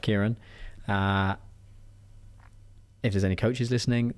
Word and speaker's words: Kyran: Spelled Kyran, pronounced Kyran.